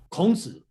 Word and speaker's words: 孔子: 孔子. You got it? Confucius. Kong is his last name. Yeah, usually we call Zi as a Mr. So it means Mr. or Master Zi.